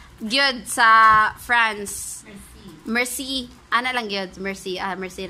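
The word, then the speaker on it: merci: So, kani, unsa ni siya pag-pronounce good sa France? Mercy.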